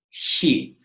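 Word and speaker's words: χι: It is a bit hard to explain how to pronounce this letter because it does not really appear in so many other languages. The closest I can think of is the Scottish word for loch. Although loch has a very rough sound at the end, you have to think of that sound but a bit softer.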